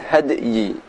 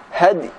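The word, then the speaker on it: الهدي: Bukan had tapi hadi.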